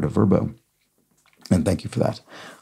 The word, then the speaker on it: VRBO: by owner is pronounced verbo as opposed to VRBO as I pronounced it letter by letter so I suppose that makes it an acronym because we pronounce it like a word a verbo and thank you for